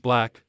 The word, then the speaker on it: 6LACK: takes a vulnerable look at his life after seeking therapy black pronounced black 30 went through a